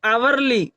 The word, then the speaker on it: hourly: उसी प्रकार आप यहाँ एग्जाम्पल देख सकते हैं, HOURLY, यहाँ इसे हम लोग क्या पढ़ते हैं? आवरली, आवरली, यानी एच की ध्वनि नहीं निकालते हैं।